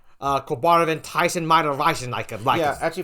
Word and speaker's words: Quebarniv: Yeah, so you'll always be saying Quebarniv. You won't be saying Que or Queb. You'll be saying Quebarniv. Yeah, so much like Jupiter. Jupiter and Quebarniv have the same amount of syllables.